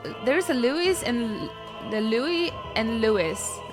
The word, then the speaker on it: Louis: a Louis and the Louie and louw right so in fact our antagonist he should be called Louie but they call him Louise therefore his name should be spelled l e w i s right if they're going